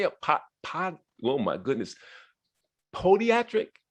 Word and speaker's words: Podiatric: Podiatric? Is it a long O? Podiatric, okay, at Temple University School of Podiatric Medicine.